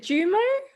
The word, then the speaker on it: JooMo: Australian accent but you're is it jumo is that how you pronounce it perfect amazing your pronunciation is perfect oh good good jimo